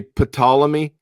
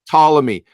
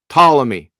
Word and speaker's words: Ptolemy: for pronunciation issues its Ptolemy the P is silent it's not pneumonia right Ptolemy it seems like a